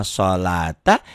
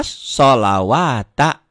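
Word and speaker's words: الصَّلَاةَ: Harusnya wa yuqimuna sholata, dia baca wa yuqimuna sholawata. Dan sebaliknya nanti ada yang sholawata, nanti ya kita lihat ya di ayat berikutnya di surat-surat lain ya.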